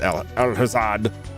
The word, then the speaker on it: Alhazad: For some reason, every time I every time I go to say his name, I'm like, "No, that can't be right." But it is Al Alhazad.